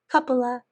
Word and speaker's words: couple of: couple of years and you don't have to say couple of years you say couple of cupola I don't pronounce that F it's a lot easier you can if you want to say couple of years but it takes more time it takes more effort it sounds less natural and so if you